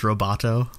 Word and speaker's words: Lovato: I could not stop laughing because Lovato in Korean is pronounced Roboto.